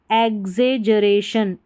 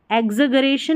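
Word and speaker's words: exaggeration: फिर देखिए एग्जेजरेशन, और वैसे भी आप पढ़ सकते हैं एग्जेजरेशन, जरेशन, एग्जगरेशन नहीं पढ़ेंगे, एग्जेजरेशन, ज उच्चारण होगा, ये जो डबल जी है ना इसका उच्चारण ज होगा।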